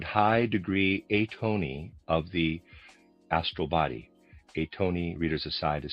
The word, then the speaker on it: Atony: Atony reader aside is spelled a t o n y.